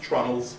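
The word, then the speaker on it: treenail: three holes they're called they're pronounced trundles spelled tree nails but it's trauma size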